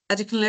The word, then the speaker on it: Adekunle: Hi, Adekunle. How are you? Am I saying your name right? Sorry. No, it's fine. That's a good pronunciation.